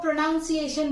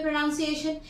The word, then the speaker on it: pronunciation: हम बात करते हैं हम में से मैक्सिमम लोग प्रोनाउंस एशन बोलते हैं प्रोनाउंस एशन फ्रेंड्स क्यों बोले प्रोनंसिएशन एक बार देख ले